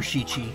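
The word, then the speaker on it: しち: to do it again seven in japan japanese can be pronounced yes i i would always i was actually thinking about that the other day because i would never remember shichi i'd only ever remember nana and i felt weird because i knew not everyone used that pronunciation strawberry sandos are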